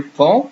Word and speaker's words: pont: For example, here, pont, you see there's a T here. I do not say the last letter.